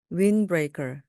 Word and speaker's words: windbreaker: 네, 들으시는 것처럼 wind 할 때 D 발음이 나지 않는데요. N 다음에 D는 거의 발음이 되지 않습니다. 그래서 그냥 windbreaker, windbreaker, 바람막이입니다.